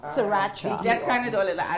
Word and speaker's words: sriracha: Sriracha is a, hot sauce that Asians use a lot in their cooking. Okay. And it also have rice vinegar. So I'm just with the pronunciation, go again? Sriracha. Sriracha.